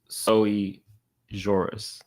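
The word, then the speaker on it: sui juris: Defendant Eric is over the age of majority and is otherwise sujurus. How do you pronounce that correctly, though? Let's see. Oh, okay. So, it is so Soie Jorus.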